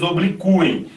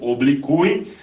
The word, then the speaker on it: obliquem: eles apaziguem, que eles obliquem. O U continua tendo, né, uma pronúncia tônica, tá? Ó, apaziguem, obliquem, né, era colocado o acento para dizer que aquele U era tônico, mas agora, né, continua